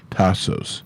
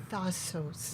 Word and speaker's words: Thassos: So we're going to have Sophia Marlona on tonight, who owns Tassos. Thassos. Am I saying it wrong? Yes, it's Thassos. Tassos.